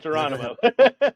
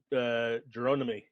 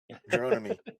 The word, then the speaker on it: Geronimi: It's not Geronimo. No, it's not Geronimo. That is Clyde Geronimi. Geronimi.